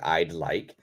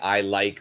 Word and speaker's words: I'd like: but during the pronunciation many people don't say the D they forget to say the D or their D is not strong enough so they'll say I like orange juice so in